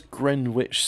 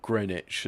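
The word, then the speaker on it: Greenwich: wrong right so there's Gren witch station or greenich as the locals call it but I mean you know why is it got all those extra letters in it if I'm not supposed to pronounce them also everyone knows you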